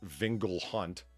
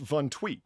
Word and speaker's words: vingt-huit: would normally be 20. See, see, pronounced Von Tweet. So why do you spell like this if you say it like this? Okay, so NG in English, or periodically GN, right? Produces a soft N sound, kind of like the Spanish N with the tilde above it.